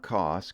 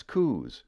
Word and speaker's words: Coos: at that Coos Canyon it's not cost Canyon that's Coos I wonder how many